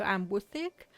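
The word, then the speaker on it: Amwythig: let me just see if I'm getting the pronunciation right at all. Amwithic. Amwithic. Okay, yep. I was doing that. Okay, so Amwithic.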